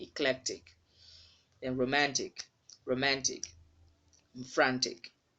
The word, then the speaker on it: eclectic: That letter E is not stressed, so you wouldn't say eclectic. Okay, it's not having a stress mark on it, so it should be eclectic.